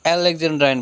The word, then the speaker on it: alexandrine: इसे एलेक्जेंड्राइन बोलते हैं।